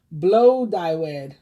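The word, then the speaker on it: Blodeuwedd: first welsh earth goddess gladued pronounced blow dyewood okay so that one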